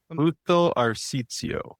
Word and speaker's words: Busto Arsizio: Like, you just got back from competing in how do you say it? Busto Arsizio? Is that Busto Arsizio. Arsizio? That's right. Yeah, Busto Yeah.